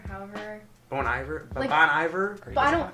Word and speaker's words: Bon Iver: don't even know how to say his name boney bear however bon iver bon iver but i don't it's bone eye there like it's like you say it weird and